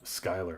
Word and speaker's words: Skyler: So we'll say Diva and Skylar, which is crazy because it looks like Schuler. Skylar. Okay.